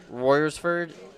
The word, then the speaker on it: Royersford: And coming from Royersford, Pennsylvania, is that how you say it?